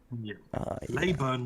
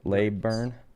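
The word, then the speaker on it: Leyburn: Leburn was where where we had the resort. Where we had the uh Oh, yeah. How do I spell that? Like layburn.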